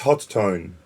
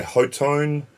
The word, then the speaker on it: Hotone: the hot zone and it's pronounced hot tone yes some people say ho tone hot one hot oh no